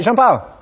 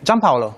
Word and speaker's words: Gianpaolo: Hey, I'm joined by Jean-Paul. Hi. How do you pronounce the name? Gianpaolo. Gianpaolo. Gianpaolo, Yeah. yes.